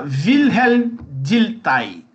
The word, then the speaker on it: Wilhelm Dilthey: Então, lá, Wilhelm Dilthey, é a pronúncia do nome do cara.